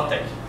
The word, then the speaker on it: LaTeX: latc o latc isso Embora esteja escrito latex esse x não é um X Ele é o q grego então se você é muito purista você deve pronunciar el lat Mas só se você é alemão você vai fazer assim todo mundo fala L Tec Enfim então o que